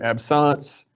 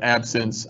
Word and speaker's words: absence: We're going to back to absance. I realize that it is spelled absence. Um, it is the French pronunciation.